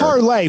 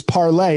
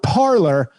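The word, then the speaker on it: Parler: know it's not twitter parlay first of all these dummies who started it it's spelled p-a-r-l-e-r which is parlay in french which means to speak they call it parlor i don't know if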